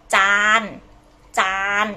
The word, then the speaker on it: จาน: know how to say in Thai we say จานจาน okay with a long vowel and the ch